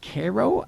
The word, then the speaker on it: Cairo: Oh, I'm going to It's pronounced Cairo, New York tomorrow for Okay.